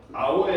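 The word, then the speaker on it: hour: 아워의 약자야. 왜 하워가 아니라 아워야? H 무궁이라서. H는 묵음이라서.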